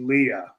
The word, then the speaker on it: Leah: Okay, Leah responded on my request to help me How do you pronounce pronounce it? She said, "I'll take whatever you call me. I've been called worse. It's actually Leah."